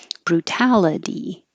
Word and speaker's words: brutality: a d brutality so anytime you see the suffix i t y it looks like itty but it will sound like a d brutality and drastically I put